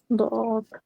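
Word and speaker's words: ض: দদ, জিহ্বার গোড়ার কিনারা উপরের মাড়ির দাঁতের সঙ্গে লাগায়া লাগাইয়া দদ দদ উচ্চারণ হয়।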